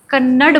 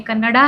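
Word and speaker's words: ಕನ್ನಡ: मुझे लगता है जैसे आप कन्नड़ बोलेंगे तो सही नहीं, कन्नड़ा है वो. कन्नड़ा.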